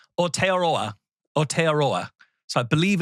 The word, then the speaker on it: Aotearoa: I went to the official pronunciation guide from New Zealand government several times. I believe it's Aotearoa. So I believe it's Aotearoa.